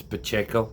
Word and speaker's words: Pacheco: You have Isaiah, I call him Pikachu. It's Pacheco. I know.